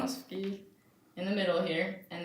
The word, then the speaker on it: Swarovski: Swarovski. Swarovski in the middle here, and then these are the freshwater pearls.